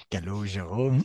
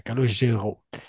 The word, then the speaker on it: Calogero: Calogero. Mm. Ottima pronuncia, Calogero.